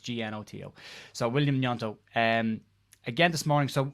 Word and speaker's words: Gnonto: an a name pronunciation update uh wilfred yonto nyanto n-u-e-n-t-o is how it's pronounced spelt g-n-o-t-o so william nianto um again this morning so mixed reports with